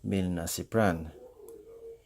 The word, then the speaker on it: milnacipran: So those are pregabalin, that is pregabalin, duloxetin, that is duloxetine, and milnacipran, that is pronounced milnacipran.